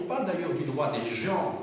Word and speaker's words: gens: la gens GNS donc ne prononcer pas la Jean hein ça ça ça ressemble effectivement au mot Jean ça s'écrit de la même manière en français mais on dit la gens hein quand on parle